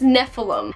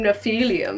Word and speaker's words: Nephilim: things in them but i think it's Nephilim and i have heard it pronounced that way that probably makes sense to call Nephilim but i was i calling them no-fee Liam because it's so fancy that way this one is always